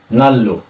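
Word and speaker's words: 난로: কিন্তু যখনই বাসিমের নিয়ন থাকে এবং বাসিমের পড়াশোনা যদি আবার যদি রিয়ল থাকে তাহলে এই দুটো বর্ণতে কি হয়, লতে উচ্চারণ হয়। তাই কিন্তু আমাদের উচ্চারণ কি হবে, নাল, নাল্লো।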